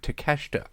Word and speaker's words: Takeshita: it out that's how you say his name takeshita but I want to point out one of